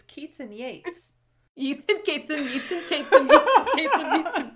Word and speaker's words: Yeats: it's from that that yeats poem um is it wait isn't it yates is it keats and yates or yeats and kates it's keats and yates eating cats and meats